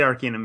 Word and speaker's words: Arcanum: Or you say Arcanum? I say Arcanum, yeah.